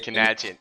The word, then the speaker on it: Canadian: Canadian. It's an emphasis on the nads.